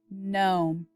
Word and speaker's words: gnome: that's a hard one the g is silent let's say it again gnome whoa excellent job roach